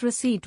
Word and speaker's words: receipt: I once pronounced receipt with a P sound and they giggled.